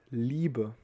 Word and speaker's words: Liebe: It's just, it shows us that we will pronounce the I very long, like E, not E, but E.